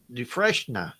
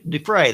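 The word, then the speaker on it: Dufresne: Which actor played Andy Du uh Dreshna? Is that is that how you pronounce it? Duhna. Du fray I think. D Fray.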